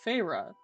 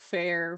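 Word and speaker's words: Feyre: this book so I knew this name was to pronounced farra right but when I was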